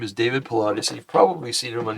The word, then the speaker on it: Paulides: Okay, David Pilates, his last name is spelled Paulides, is an American former